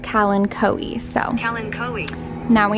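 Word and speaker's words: Kalanchoe: and pink color combo turns out you pronounce it calen coe so helen coe now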